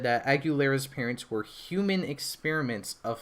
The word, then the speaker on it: Aguilera: She is Aguilera. I think it's like Aguilera, like the actress last name.